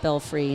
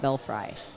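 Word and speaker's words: Belfry: lounge yeah Nigel and it is indeed pronounced belfree not belf fry who the hell calls it belf fry people people that are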